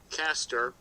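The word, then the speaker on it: Castor: uh part of the winter hexagon the star caster and the is spelled by the way c-a-s-t-o-r caster and it's paired with another star called pollux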